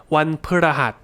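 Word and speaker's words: วันพฤหัส: ส บ ด ี but the pa just becomes like พ ฤ just p ว ั น พ ฤ ห ั ส. Try saying it like that. ว ั น พ ฤ ห ั ส ว ั น พ ฤ ห ั ส ว ั น พ ฤ ห ั ส. Then most people don't stress the pa like I'm saying.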